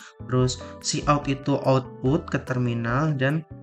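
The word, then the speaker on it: cout: Terus ini fungsi utama main function integer main int itu integer ya bacanya. Terus see out itu output ke terminal dan itu untuk enter gitu.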